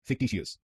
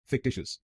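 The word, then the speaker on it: fictitious: इसकी सही प्रोनाउंसिएशन है फिक्टिशियस। फिक्टिशियस। इस शब्द में 3 शब्दांश हैं। पहले शब्दांश को बोलिए फिक फिक। दूसरे शब्दांश को बोलिए डिश डिश।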